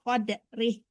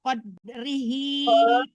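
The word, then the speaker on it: قَدْرِهِ: Wa ma qadarullaha haqqa qadrih. Haqqa qadrihi. Jangan tertahan di konya.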